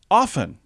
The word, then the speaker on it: often: often but it's actually often you don't pronounce the T A lot of people